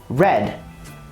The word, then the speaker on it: read: up hurt and fit read in writing doesn't change however it changes in pronunciation the word in the past would be red such as the color to finish we